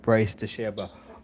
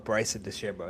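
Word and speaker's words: Bryson DeChambeau: But, um, my I'm rooting for Bryce Deserbo. Uh, or Bryson Deserbo, that's how you say his name.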